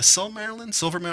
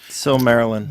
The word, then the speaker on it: Silmarillion: which is a bummer because is it the Silvermarillion? I don't know how to say it. Silmarillion.